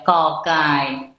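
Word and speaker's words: ก ไก่: itu enggak masalah gitu Tapi pembacaanpembacaannya itu jangan g-nya Indonesia tapi kita bacanya ke ke ya kokai kokai seperti itu kemudian ada kategori konsonan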